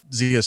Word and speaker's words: Xia: Zia, babe, what are you promoting? You can check out my social, I can say words good, social media at Zia_land. It's spelled XIA_land.